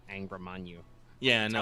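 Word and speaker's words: Angra Mainyu: weird syllables when you can just fucking say Angrimanyu. Yeah, That's no, how it's but pronounced, guys.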